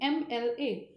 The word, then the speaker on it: MLA: But when we pronounce this word collectively, MLA, the first sound which comes with our throat is M, A, So again, this is vowel sound.